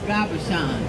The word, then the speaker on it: Gabashan: I can't spell it, but it's pronounced Gabashan.